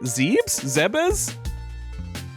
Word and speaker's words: Zebes: Zebes. And yeah, no TH.